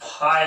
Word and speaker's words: phi: कट कर दिया, यह इस सिंबल को हम फाई बोलते हैं। देखिए ऐसे किया, ऐसे फाई, फाई जो बोलते हैं उसका स्पेलिंग देखिए PHI। अब इस एंगल के लिए